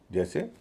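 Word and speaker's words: juice: जैसे जे यू आई सी ई जूस। यू आई का उच्चारण होता है उ।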